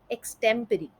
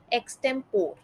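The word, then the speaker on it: extempore: अगला शब्द है एक्सटेम्परी। एक्सटेम्परी का गलत उच्चारण कुछ इस प्रकार से सुनाई देता है, एक्सटेम्पोर या एक्सटेम्पोरी। बट इसका सही उच्चारण कुछ इस तरीके से है, एक्सटेम्परी।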